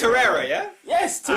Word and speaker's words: Torreira: So it's Torreira, yeah? Yes, You Torreira.